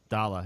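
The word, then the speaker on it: Daala: Dala, yes.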